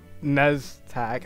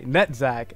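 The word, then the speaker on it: Netzach: Netzak. Oh. That I have been saying that name wrong the entire time. I'm just realizing it. It's Netzak.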